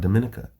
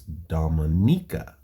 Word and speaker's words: Dominica: You know I learned that's how you actually pronounce it. It's not Dominica. It's Dominica.